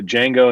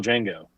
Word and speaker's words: Django: boy and he's a django and he's a do you know how to spell it he spells it and he goes d silent he goes i know he was the original django oh right now frank